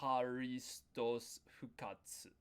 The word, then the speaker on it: ハリストス復活: So um the reason why we didn't pronounce it in the first one is cuz there was a hard consonant T.